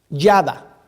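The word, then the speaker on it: ידע: Esa palabra conocido en el hebreo se pronuncia yada, Y-A-D-A, yada.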